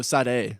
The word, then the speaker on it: Sade: Oh, Sade. Yeah. So I just recently learned the right way to say her name is Sade. I always said Sade.